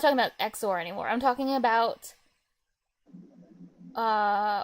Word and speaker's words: XOR: remember when I was when it was exor I was like zor zor and you're like stop saying zor it's exor it's exor yeah just read the